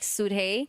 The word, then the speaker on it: Suhei: No, it's actually spelled s u d h e y. So it's technically like suhei, but I've never pronounced the d. I always just say suhei.